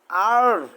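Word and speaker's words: 二: 2 এর চাইনিজ আর, আ না, আর আর R.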